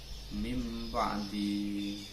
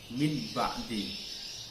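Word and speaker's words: مِنْ بَعْدِ: Mim ba'di, kalau dipisah masing-masing berhuruf min dan lafal ba'di bacanya min ba'di. Tapi kalau dibaca iklab mim ba'di, jadi nun sukunya tidak terlihat.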